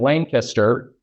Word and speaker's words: Lancaster: I can guarantee you the people in Lancaster, Ohio, yes, that is how you say it, apparently.